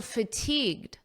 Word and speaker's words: fatigued: You may notice that the pronunciation is almost identical because this D in fatigued is extremely soft and you don't really hear it at a natural pace.